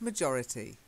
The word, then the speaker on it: majority: is majority the majority the stress was slightly different okay so try it majority majority majority majority good and remember we say major okay like a major incident but majority yeah lovely English pronunciation